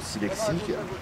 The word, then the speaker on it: Silexique: Ça s'écrit le chiffre 6 et L-E-X-I-C. Voilà. Je le dis parce que c'est quand même un peu pénible à retenir. Mais du coup, comme ça, vous le répétez, Silexique, c'est pas évident à prononcer, les gens le répètent, et